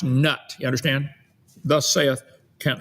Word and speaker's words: Nut: you speak ancient Egyptian from now on it's pronounced nut you understand thus saith Kent Hoven okay Osiris